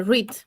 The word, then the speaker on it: read: Pero a veces lo que cambia es su pronunciación, como en el caso de read, que es leer. En presente se dice read, en pasado es red, como el color rojo, red.